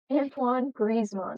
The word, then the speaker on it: Antoine Griezmann: me tell me how to say the name Antoine grizzman Antoine Griz all right and now we're to